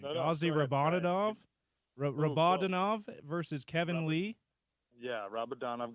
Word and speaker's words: Gadzhi Rabadanov: Gazdi, help me with the pronunciation. Gazdi Rabadanov versus Kevin Lee. Yeah, Rabadanov. Gadzhi Rabadanov.